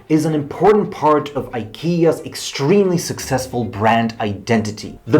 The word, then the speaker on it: IKEA: can speak Swedish and I can pronounce the Ikea name properly Ikea and I can pronounce